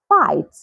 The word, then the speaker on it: fight: through through night night fight fight so can you see these examples have the G come right before the letter H but the g is silent so these are some